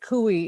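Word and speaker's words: coup: the kui scenarios it took me like five different iterations of kui to realize that kui is spelled c-o-u-p why um anyway um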